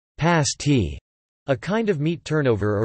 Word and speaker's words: pasty: The pasty, pronounced pasty, a kind of meat turnover originally brought to the region by Cornish miners, is popular among locals and tourists alike.